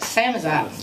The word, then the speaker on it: Samizdat: Samizdat, is that how you say it? How do you say it? Samizdat.